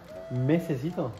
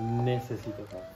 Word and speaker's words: necesito: ¿Mesecito o necesito? Necesito. No, necesito. No. Pero yo quiero decirlo con la M.